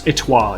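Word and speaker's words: étoile: by a tulsi okay i don't know how this pronounced french it's french it's itwa it means a star yeah that's what i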